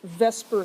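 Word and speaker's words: VSEPR: of an extension of Lewis Theory it's called Vesper Theory so Vesper I know it should be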